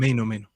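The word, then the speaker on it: Mainoo: Is it Maino or Mano? How do you say his name? Maino.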